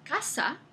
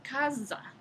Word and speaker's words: casa: Entonces, el castellano medieval tenía el fonema sonoro Z, en palabras como la palabra que hoy en día pronunciamos casa. En la época medieval se pronunciaba casa.